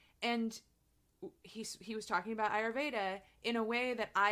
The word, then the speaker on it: Ayurveda: you're so welcome yeah yeah it's huge so ayurveda am i pronouncing that right yeah ayurveda so i i just want to say for